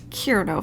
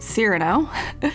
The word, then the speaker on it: Cyrano: we have Azalea Cyrano I said Kirito for a long time but Cyrano it's Cyrano I'm gonna say it